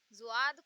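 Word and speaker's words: ضاد: इसी तरह ये हो गया जुआद। जुआद को इसमें जा और दाल को, जा और दाल, दा को मिक्स किया जाता है, जुआद।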